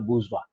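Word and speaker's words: bourgeoisie: बर्जियोसी ऐसा करके इसका स्पेलिंग है, लेकिन इसका प्रोनाउंसिएशन होता है बूर्जवा।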